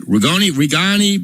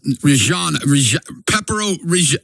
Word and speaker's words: Reggiano: And you ever had the Parmesan how do you say it? Rigani? It's Reggiano.